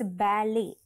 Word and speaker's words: ballet: do not at all pronounce the T in the end it's silent completely silent and the second s which is l e is Le right so it's balet okay so yeah this is how we pronounce it and this is what